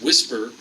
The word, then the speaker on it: WSPR: we refer to as whisper which is wspr and I forget the what the actual acronym stands for so I'll have to take a Buy on that but it's pronounced whisper and what whisper does